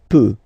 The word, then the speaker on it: peut: Then il, elle peut. So you will put T at the end. You don't pronounce it.